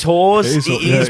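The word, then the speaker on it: Hause: So, Okay, so Is it Hawes or is it House? The no, alternative- it is Hawes. It is, It yeah, is, but it like is if Hawes.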